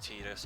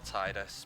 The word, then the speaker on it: Tidus: which is Tidus or Tidus. People pronounce it different ways.